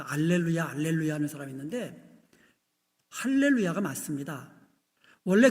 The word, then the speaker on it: 할렐루야: 그런데 작은 따옴표를 반대로 이렇게 돼 있으면 이거는 H 발음이 됩니다.